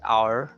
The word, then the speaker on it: hour: Town, south, count, found, sauerkraut, power, hour, and same spelling, same sound, hour. So that's 2-syllable word. Hour. It's not hour, but hour.